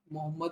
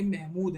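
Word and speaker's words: محمود: ये मोहम्मद नहीं है। महमूद है।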